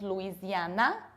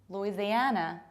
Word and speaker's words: Louisiana: Another one, it's not Louisiana, but Louisiana, Louisiana, Louisiana, Louisiana.